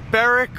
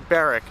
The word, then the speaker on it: Berwick: day so far right now we are in barrack or Berwick depends how you want to say it guys let me know how you would say it's literally spelt be e r wi CK but it's pronounced barrack it makes no sense anyway today we are